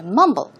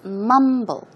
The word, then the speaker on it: mumble: out okay so to mumble the stress goes on the first syllable for example is Mumble Mumble and I am